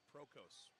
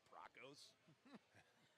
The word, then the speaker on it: Prokos: good dude awesome okay remember chloe prokos okay i gotta get that one out of there john john told me that so thank you john much appreciated i always enjoy pronouncing kids names right i probably pronounced it broncos am i hearing salt